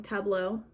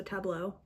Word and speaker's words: Tableau: There's one that's called, I'm gonna pronounce it wrong, Tableau. I feel like it should rhyme with bureau because it has the EAU, so Tableau.